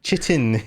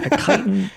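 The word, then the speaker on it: chitin: It's kiten, which I was going to say is possibly one of the most mispronounced words on the planet looks like kitten. Chitten. Yes, but it's a kiten, which for anybody who is curious what the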